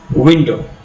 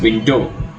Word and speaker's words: window: For example, in the word window, the syllable I, or rather the vowel I, is stressed. We pronounce it as window. We do not pronounce it as window.